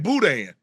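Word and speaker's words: boudin: mean it's all it it almost looked like Budan who like budy Bud booty no okay I'm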